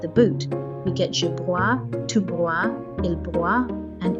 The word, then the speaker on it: broie: There is only one syllable. We do not need to say je broyeux. The last syllable is silent, so only one syllable is said.